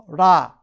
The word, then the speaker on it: 라: 뭐 영어식 발음을 라 혹은 레 이러는데, 그러니까 이 태양이 창조 세계의 원동력이고 모든 세계의 중심이다라고 하면서 태양을 신으로 알고 숭배한 것이죠.